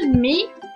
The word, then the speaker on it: mets: On ne prononce pas le S à la fin.